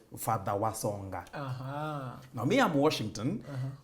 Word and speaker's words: Washington: Now me, I'm Washington. The name my grandmother could never pronounce. So my grandmother could always say Wasonga.